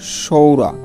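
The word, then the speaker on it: psoriasis: তারপর দেখো এই যে সাইকোলজি, হ্যাঁ, অর্থ মনোবিজ্ঞান, হ্যাঁ, এ জায়গায় দেখো এই পি এর উচ্চারণ হয়নি। তারপর দেখো সৌরা অর্থ খোস পাঁচরা, একটা রোগের নাম, যাই হোক।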